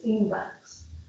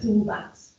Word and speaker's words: TEENVAX: starting point of the TEENVAX project is. So the N and the X is just to make the acronym pronounceable so that we don't go TEENVA.